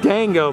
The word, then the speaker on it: Dingo: me here in Paris goofy is called a dingo who they pronounce it more like dango but still we see